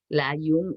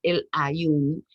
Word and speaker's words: El Aaiún: algunas menciones en francés layún es como le dicen a los franceses que induce se escribe así en francés el nombre en español es el aiún que significa los ojos en árabe es un nombre en